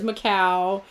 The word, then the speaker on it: Macau: got a new argument whether or not how you pronounce it the stuff - because I had the little thingy on the sea but apparently it is Macau we looked all this